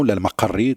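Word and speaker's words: al-Maqqari: Et donc, sa famille, Al-Maqri, on a un grand écrivain, Al-Maqri, également, Al-Maqarri, comme on le prononce, de Tlemcen, et qui nous a laissé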